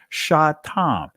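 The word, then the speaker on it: שטם: That's how you pronounce it in the ancient Hebrew, shatam.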